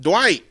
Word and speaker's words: Dwight: do you say it Dwight yeah I say I put more emphasis on the D white okay all right